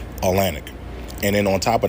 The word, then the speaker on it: Atlantic: Atlantic. The T doesn't even matter. The T is not even pronounced. Atlantic.